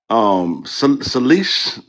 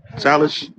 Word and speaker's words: Salish: Salish, is that how you pronounce it? Salish, Salish.